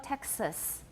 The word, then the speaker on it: Texas: hanuchi taxis okay dojo texas what vowel do i have in the second syllable of texas it's a schwa definitely a schwa and this is a